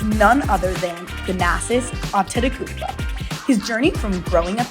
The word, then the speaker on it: Antetokounmpo: Yeah, you just used the T twice. T twice. Antetokounmpo. Yeah, that's it.